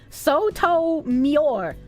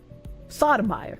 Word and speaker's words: Sotomayor: It's pronounced Sotomior. Sotomior. Sotomior. Sotomayor.